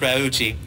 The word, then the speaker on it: Raucci: last name the story is that it's really pronounced Ruchi but we've always told people rasi because it was easier to say I was